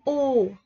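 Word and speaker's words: ㅜ: Chữ U. Không phải là chữ ô của mình ha, mà là U. Cái miệng mình phải đưa ra ngoài một chút chứ không phải ô.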